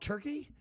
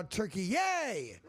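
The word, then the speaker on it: Türkiye: Apparently, it's no longer called Turkey. It's now Turkey Yay! Is the new pronunciation.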